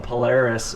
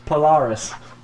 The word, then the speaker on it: Polaris: I was calling them Polaris, and then they're from Australia, so the lead singer comes on and goes, "We are Polaris!" I was like, oh shit, I've been saying it wrong. It's Polaris. Polaris.